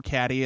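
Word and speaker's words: Cady: Yeah, just like So we follow a high school girl named Katie, or Caddy, as people like to say, because her name is spelled fucking weird.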